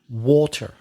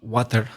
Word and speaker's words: water: word in your story water water not water nope it's not what you expect the vowel sound is water water and you use